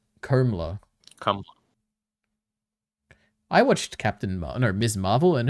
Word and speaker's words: Kamala: By the way, Kamala is pronounced Komala.